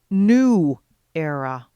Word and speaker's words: Nuera: only now realize that the proper pronunciation of the name is new era i'm at the corner